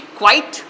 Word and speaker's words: quite: word quiet and quiet see quite one syllable quiet quiet two syllables one two this means soft quiet